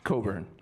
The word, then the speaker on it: Cockburn: It's a silent CK. Anyways, that's a little, inside story for new Canadians. It's Cockburn.